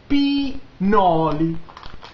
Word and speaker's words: pinoli: Pie, nuts, pinoli. Pinoli. Like P, like P. Noli, but spell different.